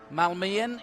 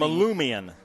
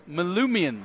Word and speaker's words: Malumian: Malmian. Now, you had a better pronunciation. Malmian? You got it right at the beginning. Malumian. Malumian. They call him Lou.